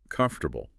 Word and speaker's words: comfortable: Starting with number 5, a word we use all the time, comfortable. Mm-hmm. Very common. And the mistake is sticking to the 4 syllables you see written. Comfortable.